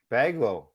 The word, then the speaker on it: Baglole: pretty good two syllables bag lol baglow hey yeah see it looks